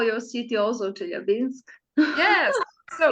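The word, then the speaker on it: Челябинск: For example, I say in Russian Chelyabinsk, but in French it will be Chelyabinsk.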